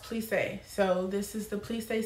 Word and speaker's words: plissé: All right, it's pronounced plissé.